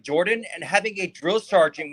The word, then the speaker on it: Jordan: And the last name is actually pronounced Jordan. It's who? It's actually, my last name is actually pronounced Jordan. The O is, it's kind of like when you say word.